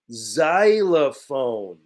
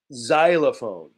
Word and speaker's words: xylophone: give it to you xylophone but we pronounce the x like a z xylophone right it's like piano